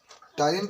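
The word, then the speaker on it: ptyalin: P silent हो जाता है, समझ लो बात।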